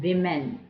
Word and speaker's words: women: can dash men and women that's how you pronounce women you say woman but you say women so more than one